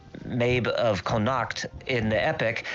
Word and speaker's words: Medb: M-E-D-B? Queen Mabe? Oh, Queen Mabe. Okay. Queen Mabe of Connacht. C-O-N-N-A-C-H-T. Connacht, I not sure. Okay. We'll just say Mabe of Connacht in the epic.